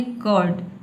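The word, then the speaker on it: curd: आपको बोलना है कर्ड। कर्ड। ठीक है? र को साइलेंट रखना है।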